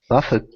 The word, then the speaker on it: buffet: the new Chinese restaurant it is a buck Buffett and so you can eat to your heart's